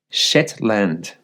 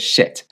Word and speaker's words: Shetland: But I did see this, and let me just say it correctly. The Shetland, I said Shet, the Shetland EV charger.